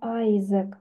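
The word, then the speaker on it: Isaac: Это Айзек. Вот этот Исаак, он читается в английском. Айзек.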